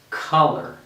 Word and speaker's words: color: and we say and this o r again like mirror is more of an er and we're going to say color so this syllable is stressed and i say color okay by the way